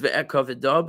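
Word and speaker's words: ואכבד: It's pronounced ve'ekaveda, but it doesn't have a hey at the end.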